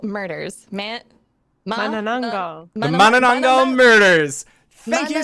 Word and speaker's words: Manananggal: One of the Sarahs, can you help me pronounce the name of this mystery? The Manananggal murders. Manananggal.